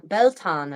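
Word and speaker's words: Beltane: In Ireland, Philip from Irish Medieval History last week was saying that the Beltan, as I think he pronounced it, is the fire festival,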